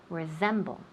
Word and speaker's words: resemble: So, we put the emphasis on the second syllable, to resemble.